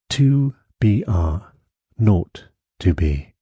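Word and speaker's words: 2BR02B: were supposed to call the zero in the telephone number he pronounced not the number was 2BR not to be it was the telephone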